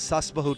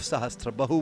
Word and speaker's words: Sahasrabahu: Also known as Sasbahu temple, this name apparently originates from the mispronunciation of Sahasrabahu, which is the actual name.